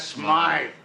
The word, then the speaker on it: Smythe: Mr. Smith is closing up his shop. That's Smythe. There you got it. That creep called him Smythe. He knew how to pronounce his name.